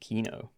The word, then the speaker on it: Keenoe: And it's pronounced Keenoe.